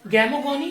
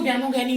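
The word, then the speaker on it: gamogony: एक आपकी रहेगी, जो इसमें दो पार्ट्स मैंने बनाए हैं, गैमोगोनी, और एक होगी स्पोरोगैनी। ये तो गैमोगैनी होगी, गैमीट्स बन रहे हैं मेल फीमेल, गैमोगैमी, गैमोगोनी, गैमोगोनी, गैमीगोनी, सही प्रोनाउंसिएशन है गैमीगोनी।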